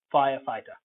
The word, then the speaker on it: firefighter: at best fire fire fire fighter firefighter note the stress fire will be stressed and phi will be stressed so the two fires will be stressed fire fighter because it's a compound now it depends how